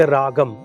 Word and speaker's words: ragam: For simple example, we South India we say ragam, but in North India they say rag. Right. We say talam, they say tal.